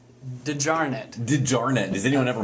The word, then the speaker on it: DeJarnett: how do you pronounce your last name dijarnet didjarnet does anyone ever mispronounce that i've heard everything from de geret uh yeah all kinds of mispronounces all right